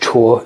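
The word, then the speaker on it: 辶: So, the first half is pronounced Chuo, c h u o, and it describes um the the movement of something from one place to another.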